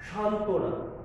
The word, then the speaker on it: সান্ত্বনা: আসে নাই, অর্থাৎ ব এর উচ্চারণ এখানে হয়নি, অনুচ্চারিত। সান্ত্বনা। এভাবে উজ্জ্বল শব্দের জয় যোগ জ যোগ ব ফলা, তাহলে এই ব ফলার উচ্চারণ এখানে হবে না। কারণ কেন? সূত্র বলছে যে যুক্ত ব্যঞ্জনের সঙ্গে, এখানে ব্যঞ্জন বর্গীয়জের সাথে ব ফলা এসেছে, সুতরাং এর উচ্চারণ আমাদের করতে হবে না।